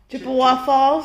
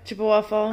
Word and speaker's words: Chippewa Falls: Chippaway Falls? Is that how they say it? No. Chippawa Falls? Chippawa. Chippewa? Chippewa. Chippewa Falls. Right.